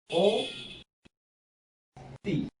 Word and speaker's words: অতি: অতিটার উচ্চারণ হলো এই ও তি, ও তি।